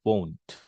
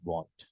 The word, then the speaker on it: won't: वी डू not call it वांट, we call it won't. Won't. So there is a slight difference, okay, in terms of pronouncing this word, won't and want.